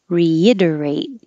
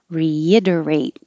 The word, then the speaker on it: reiterate: reluctant reluctant reiterate reiterate we can't change this re to ra because the next letter is a vowel so when you add the prefix re to a word that begins with a vowel you keep the e sound like reinforce even if that first syllable is not the stressed one reinforce this was new